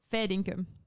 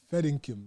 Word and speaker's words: fair dinkum: Fair dinkum. Oh. Fair dinkum. Fair income. Mm. Fair income. That's not how you pronounce it.